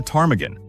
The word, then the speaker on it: ptarmigan: After the bird you have been eating for weeks, it is a ptarmigan. Great choice, except for one tiny issue: nobody knows how to write it. Faced with that silent P and a mess of letters, the miners just gave up.